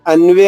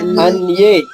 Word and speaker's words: అన్యే: అందరికన్నా ముందు మొదలు పెట్టి అన్వే అనకూడదండి అన్వే అన్యే అన్వే మీకు అన్వేషం గుర్తొస్తునట్టు ఉంది అన్యేచబహవశురా అన్యే అన్యేచబహవశురా మదర్తే